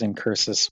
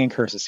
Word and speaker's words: Incursus: finally and most importantly here is incursus with I keep saying in curses here's ignis with the